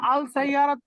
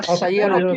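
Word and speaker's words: السَّيَّارَةُ: আস-সাইয়ারাতু আপনারা যারা আল সাইয়ারাত বলতেছেন আস-সাইয়ারাতু এটা উচ্চারণটা হবে আস-সাইয়ারাতু, আস-সাইয়ারাতু, আস-সাইয়ারাতু, এরকম হবে, মাশাআল্লাহ।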